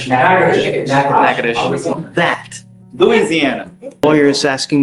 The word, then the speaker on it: Natchitoches: You are wanted out of Louisiana, Natchitoches Parish. I butchered the pronunciation, but Natchitoches. Yes, What is it? Natchitoches.